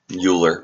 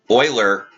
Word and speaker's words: Euler: it's pronounced Oiler but every time I see it my first glance is to say uler anyway we are going